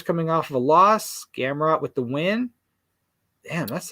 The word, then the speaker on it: Gamrot: I forgot how you say it, but it's Gamrot. Gamrot. Yeah. Versus Diego Ferreira. Yeah. 17-4 for Ferreira, and Gamrot is 19-1 and 1 no contest. Ferreira's coming off of a loss. Gamrot with the win.